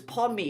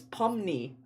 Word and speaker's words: Pomni: Oh, cuz Oh, I was pronouncing hers Pomi. It's Pomni.